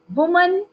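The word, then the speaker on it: women: वुमन, डब्ल्यू ओ एम ए एन का plural होगा विमन, डब्ल्यू ओ एम ई एन।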